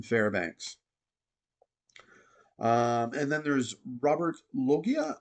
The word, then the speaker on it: Loggia: And then there's Robert Loggia. I apologize. That's how you say his name.